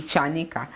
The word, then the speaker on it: Chanika: Our chairman actually was correcting the pronunciation of her last name, Chanika. So yes, she is Mercy Chanika.